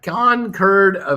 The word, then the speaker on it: Concord: uh dave mcqueen can can a concord is a plane uh can't concur phonetically is a grape and the town in massachusetts where it was developed there you go all